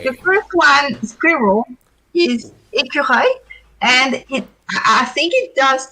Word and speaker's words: écureuil: So it has that a sound that I think is pretty much French. It sounds œil, écureuil. Wow. So that's a hard one to pronounce for Americans because you have the R. I think I've told you about the R that is really deep down in your throat, as if you were gargling, with water.